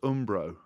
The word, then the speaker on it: Umbro: be on the wing i've never heard it pronounced umbro i quite like that oh what is it ombre umbro yeah but um bro ambrose middle class